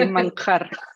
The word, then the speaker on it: Manjarrez: Manjarres? Manjarres. It's actually Manjarres.